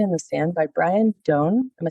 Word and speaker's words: Doane: the Sand by Brian Don. Am I saying your last name right? Yes. Dune rhymes with bone.